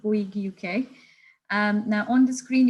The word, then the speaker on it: Bouygues: in 60 countries, and the pronunciation of that word there is Bouygues. It is a bit difficult, and it's a French company, so not everybody can pronounce it correctly.